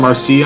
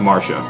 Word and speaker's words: Marcia: I called her Marcia, I think. It's actually pronounced Marcia.